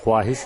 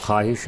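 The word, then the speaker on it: خواہش: में ए जाए यह ख्वाहिश नहीं है ख्वाहिश है इसमें वो साइलेंट है कैसे भौं वो मेडुला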